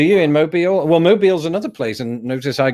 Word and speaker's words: Mobile: was modeled do you in Moby or well Mobile's another place and notice I correctly pronounced mobile but Birmingham is high on my